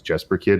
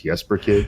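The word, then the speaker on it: Jesper Kyd: talking about Jesper Kid, which I guess I'd been mispronouncing all this time as Jesper Kid. It's Jesper Kid.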